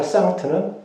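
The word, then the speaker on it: Sankt: 세인트가 아니고 상트라고 하는 것을 라틴 발음에서. 첫 번째가 상트는 라틴어로 성전한 뜻입니다.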